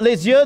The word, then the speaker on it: les yeux: By the way, Kian, is it les yeux, the eyes?